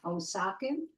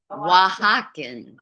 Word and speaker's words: Oaxacan: How are we pronouncing that? Osakan? Oaxacan.